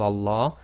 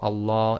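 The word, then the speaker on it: الله: So always remember the lam of Allah is always 2 lengths long.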